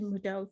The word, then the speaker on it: Moodeaux: of model if you didn't know that's the pronunciation mudo feel so fancy saying it but model is